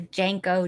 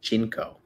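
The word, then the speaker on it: JNCO: Yes, and I used to wear Janko jeans. Really? And they're crop. Pronounced Jinko.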